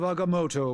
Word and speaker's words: Agamotto: May the Eye of Agamotto watch over us all. Wow, he actually pronounced it right. Oh, thank you for not going with their erroneous coaching. That was correct.